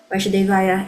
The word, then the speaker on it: Vasudevaya: and then the son, when it comes to like the intonation, the way you pronounce the Va. If it's longer, then you're referring to Krishna's father. If it's shorter, Vasudevaya, it's Krishna. So we just have to